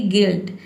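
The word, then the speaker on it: guilt: जैसे कि गिल्ट। गिल्ट में देखिए यहां पे इ पढ़ते हैं। जी का ग हो जाएगा। यू आई का हो जाएगा इ और एल टी का हो जाएगा आधा ल और ट।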